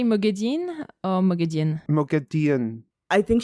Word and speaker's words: Moghedien: It's like with an, you know how it's spelled Moghadien. It's like it's Dean, kind of how she says it.